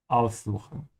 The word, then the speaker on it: aussuchen: Make sure to emphasize the prefix, because it's a separable verb. Aussuchen.